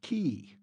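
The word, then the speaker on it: cay: at least pronounce it correctly scotty k is pronounced key see scotty exclaimed triumphantly the only place where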